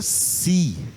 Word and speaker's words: psi: E os gregos não pronunciam esse P. Não pronunciam esse P. Então, para os gregos, essa letra é a letra Si.